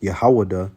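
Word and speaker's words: יהודה: And you say that in the Hebrew, it's pronounced Yahwadah, and that means Yahweh praise.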